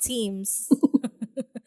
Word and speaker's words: Teams: yes We're on Microsoft teams Did We mention that we're are Microsoft teams Yes we're using Microsoft teams Thank you Microsoft teams mating na sila un saan man ang Microsoft tiams It's Microsoft teams This is in reference